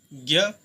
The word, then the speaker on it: ज्ञ: ज्ञ, ज्ञ को कैसे लिखते हैं? ज होता है ज प्लस अय, ये होता है ज्ञ, यानी कि मुझे ज्ञान की प्राप्ति हो गई। ज इसमें थोड़ा साइलेंट रहता है, मुझे ज्ञान की प्राप्ति हो गई है, ज्ञ।